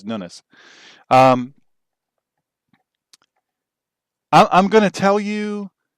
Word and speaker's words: Nunes: people say that this Nunes, I say his name wrong. I say it like I think it should be said, but he pronounces Nunes.